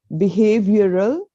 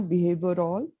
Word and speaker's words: behavioral: So it's connoisseur and not connoisseur, behavioral, not behavioral.